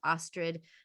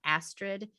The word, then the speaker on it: Astrid: just say um i'm i'm pretty a stickler with it being pronounced ostrid not astrid uh and um and